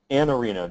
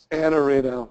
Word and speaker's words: Iannarino: say it right now an arino just drop the eye an Areno so so bro it